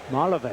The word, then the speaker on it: Malave: how to pronounce that name m a l a v e and you helped me out Malave from the minor league days Jose Malave Malave Jose how was was wrong I didn't get it right Malave okay foul tip and